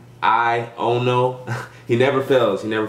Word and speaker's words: Aiono: Aiono.